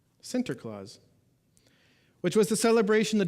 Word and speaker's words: Sinterklaas: to this day but Santa Claus is really just an America Americanized pronunciation of a much word and I'm going to butcher it for those of you that are Dutch I apologize Sinterklaas center claws which was the celebration